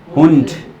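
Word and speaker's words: Hund: हुंड, हुंड, last में हवा से निकल रही, मेरे मुंह से सुनो एक बार पहले, हुंड, हुंड, ये रियल प्रोनाउंसिएशन है इसका, ठीक है।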